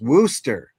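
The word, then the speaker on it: Worcester: Well, you know, you know, uh, no R and Worster. It's pronounced Worooster.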